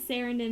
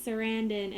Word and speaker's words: Sarandon: wrong for so long i this serendon but it's sarandan and anyway so i